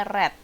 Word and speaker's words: read: tense pakai verb kedua bukannya read Tapi bacanya jadinya red tulisannya sama tapi bunyinya beda Oke next ya Nah